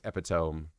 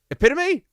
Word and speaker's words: epitome: Don't beat myself about uh mispronouncing epiome. Wait. Epitome. I did it again.